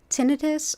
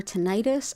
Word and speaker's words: tinnitus: And it's also thought helpful for tinnitus or tinnitus. I've heard it pronounced both ways, but that tends to be a chronic sound in the ears, a hearing issue.